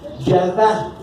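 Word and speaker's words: ידע: En el hebreo se pronuncia yadá, con Y y H al último, yadá.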